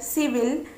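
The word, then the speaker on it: civil: एल E circle, C आई वी आई एल सिविल, सी आई आर सी यू आई T circuit.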